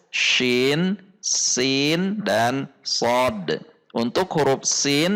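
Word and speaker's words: شين: When the letter SYIN has no vows, then it is read as syin not sya, if it is sya then it already has harokat.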